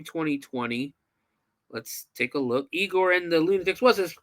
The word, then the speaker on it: Igor: absolutely nothing Joe Neola plays eagor which it kind of bothers me too because it's it's eigor in the lunatics is spelled with an i but his name is spelled with a y yeah I was wondering